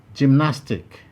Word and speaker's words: gymnastic: stress 15 gymnastic gymnastic this also has three syllables jim nas tick you'll find option b in option b nas is highlighted and therefore it is the place that receives the primary stress 16 quadratic quadratic quadratic